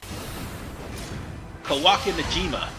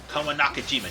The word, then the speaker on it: Kawanakajima: in fact involved in Kawaki Najima. No. Yeah, I think it's Kawanakajima. That's what the name is.